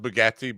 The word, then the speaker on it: Bargatze: I want to ask you about your relationship with Nate Bargatze, and he spelled Bargatze, but pronounced Bargatze.